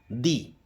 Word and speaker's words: the: ठीक है, जैसे एग्जांपल के तौर पर अगर आपको बोलना हो, जैसे कोई पिक्चर मूवी खत्म होती है तो हम बोलते हैं दी एंड, हम द एंड नहीं बोलते, दी एंड बोलते हैं।